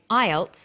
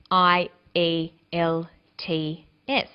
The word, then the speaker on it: IELTS: is called an acronym with an acronym we don't pronounce the individual letters we pronounce it as a word so we say IELTS not I al t s some other examples of